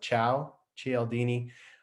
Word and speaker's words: Cialdini: took me a while to learn how to pronounce his name it's like ciao cieldini uh this is a huge book it's a